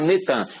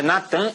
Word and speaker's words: Natan: É Natan, eles já fizeram o sincretismo, botaram Netan, mas é Natan Yarro.